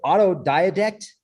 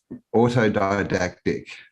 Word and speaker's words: autodidactic: campbell how it was auto diadect autodidactic that's how you say it yeah and it's